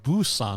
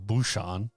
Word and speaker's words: Busan: wrong with you guys it's Busan not buan bruan yeah have I been saying